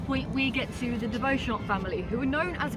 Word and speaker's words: Beauchamp: And you may notice that even with my accent, the word de Beauchamp sounds quite French. And so they changed the way you pronounce their name, we think, from de Beauchamp to Beecham instead.